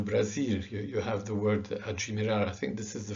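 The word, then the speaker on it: admirar: Okay, and it is actually pronounced, interestingly and strangely, adjimirar. This word is adjimirar. So you've actually added a J and an I, not just one letter, to this word.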